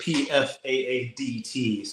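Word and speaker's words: Pfaadt: yeah we should we should mention that it's pfaad it's not uh yeah um but yeah if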